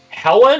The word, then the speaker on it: Helene: Is it Helen or Helene, or something else? Helene. And I'm just Helene.